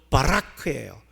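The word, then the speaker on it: ברך: 송축한다는 단어는 히브리 말로 바라크예요.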